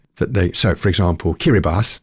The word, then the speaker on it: Kiribati: they so for example kiribas spelled Kiribati but pronounced kiribas was one of the